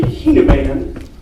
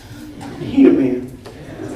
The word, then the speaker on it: Hueneman: My last name's actually Hueneman. I tell everybody it rhymes with, he's the man. Hueneman.